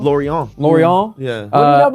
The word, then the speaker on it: Lorient: Lorient? Lorient.